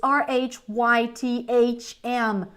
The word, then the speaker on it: rhythm: do you say guys we say Rhythm Rhythm Rhythm like I put a d here but actually would be better for you to pronounce with a th so rym